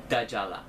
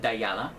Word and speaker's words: Dajala: And this one is from the Shooting Stars collection, and the fragrance is called Dajala. Some pronounce it Dayala, but this is a great citrusy, orangey, African orange flower kind of a fragrance.